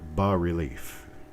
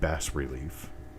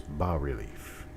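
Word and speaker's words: bas-relief: thin we call it ba relief buzz a french word so the s is silent it's not bass relief it's not buzz relief it's ba relief and as we continue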